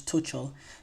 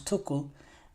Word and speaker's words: Tuchel: Every time I say Thomas Tuchel's name wrong, I always say Thomas Tuchel. It's Thomas Tuchel.